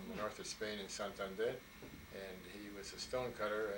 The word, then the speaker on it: Santander: My parents are Spaniards from the north of Spain in Santander, and he was a stonecutter, and that's what he did in Detroit.